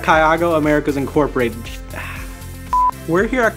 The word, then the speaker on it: CAYAGO: We're here in Kaygo. I said it wrong immediately. We're here at Kyago Americas Incorporated.